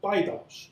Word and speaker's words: Daedalus: So I pronounce it like the Greek word says, because in English there can be several of different pronunciations for this rather complex word. But Daedalus seems to be the Greek pronunciation for it, which was this winged